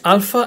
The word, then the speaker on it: alpha: So this is the letter alpha. It's pronounced alpha as in alpha male, and a picture there for you to remember.